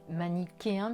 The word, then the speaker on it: manichéen: savent pas manichéen et on prononce bien manichéen puisque ch la face et se prononce cas relatifs donc on